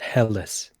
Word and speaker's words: Helles: Oh, and I just watched a thing, and it's pronounced Helles. Helles beer. Alice. I'm going to keep calling it Hells just to piss off Jared. Well, I think hell in German is like light.